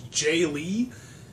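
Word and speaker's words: Jae Lee: And I also wanted to give a shout out to, I think it's Jay Lee. It's spelled J-A-E space L-E-E, who is making an awesome martial arts cinema-related video game.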